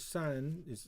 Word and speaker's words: 掸: This is when you pronounce as 善, it's the name for this ethnic minority.